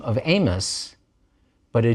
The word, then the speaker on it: Amos: name with an i and we call him Amos we don't pronounce the I and we just go right